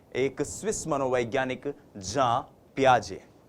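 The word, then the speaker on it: Jean Piaget: जी हां, हम इनको हिंदी भाषी लोग अक्सर जीन पियाजे जीन पियाजे कहते हैं। लेकिन यह जो जीन शब्द है जे इ एन जो ये स्पेलिंग है ये स्पेलिंग जो है इसका उच्चारण जब आप स्विस भाषा में करते हैं यूरोपियन कंट्रीज में करते हैं फॉरेन ऑथर्स को पढ़ते हैं तो वो होता है जा पियाजे। तो हम भी जा पियाजे बोलने की कोशिश करेंगे।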